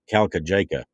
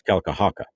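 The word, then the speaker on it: Kalkajaka: out how to pronounce because it's spelled like it's calca jaco well it's kalkahaka that's how it's pronounced if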